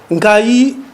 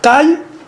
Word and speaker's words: Nkayi: Nkayi, que vous le trouverez là-dedans, les explications sont dans les livres. C'est la prononciation Kamba, mais reprise en français par Kayi, puisque ce sont eux qui ont rédigé. Et donc c'est pourquoi nous